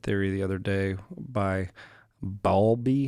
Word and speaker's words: Bowlby: Yeah, I was reading something about attachment theory the other day by Bowlby. How do you say his name? Bowlby.